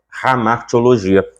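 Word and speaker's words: hamartia: por aí vai e esse H ele tem um som de um R bem gutural ramar teologia R lá da garganta não é o r da língua ramar ramaria é a pronúncia cor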